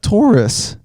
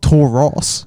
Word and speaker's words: Taurus: you just said that taurus not tor ross that's how we pronounce it okay i'll give it